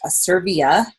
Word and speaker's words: Asirvia: company and you know the company's name is pronounced a serbia and it's a derivative of the latin word